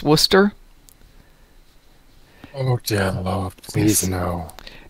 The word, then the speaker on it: Worcestershire: Nova says, you mean like how Worcestershire is pronounced Worcester?